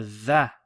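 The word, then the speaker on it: ظ: You have a dha. Okay, so this is the first time we've seen this letter. Dha, if you remember, it's like the lisp, trying to pronounce Z with the lisp.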